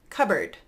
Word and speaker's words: cupboard: we're starting out with cupboard notice I'm just skipping right over that P cupboard cupboard then we have